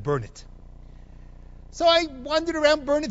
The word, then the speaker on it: Burnet: give you an example Burnett Texas Burnet Texas absolutely insisted to me there is nothing of value in Burnet Texas it's spelled b-u-r-n-e-t but they pronounce it burn it so I wandered around